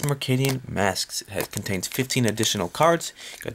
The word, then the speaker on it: Mercadian Masques: is from the set mark alien masks took me a really long time to realize how to pronounce the name of this set but it is McKinnon masks contains 15 additional cards